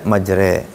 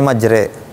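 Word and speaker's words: مجراها: mutamtilah ini he begitu Jadi ini dibacanya majre dan ini riwayat hafaz hanya ada di surah ini saja surah apa namanya hud ayat 41 ya he bacanya majre Bismillahi majreha Wa mursaha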